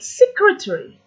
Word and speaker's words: secretary: For example, the word secretary. The stress is at the start.